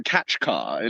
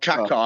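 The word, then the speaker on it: Kaçkar: yell mispronouncing everything around actually I think it's the catch car like it's catch car it's not Kat car I kept saying katar at the beginning it's actually catch car catch car okay catch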